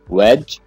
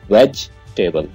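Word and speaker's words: vegetable: इसके आप दो पार्ट कर लें, वेज और टेबल। वेजिटेबल, आपने वेजी नहीं कहना है, वेजिटेबल।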